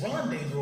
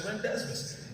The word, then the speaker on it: rendezvous: mary jane watts and he's like what it's rendezvous i was like no what is it it says rendezmus i get him over